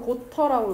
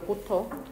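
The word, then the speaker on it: Goethe: 한국말로는 영어로는 고터라고 읽어요. 고터.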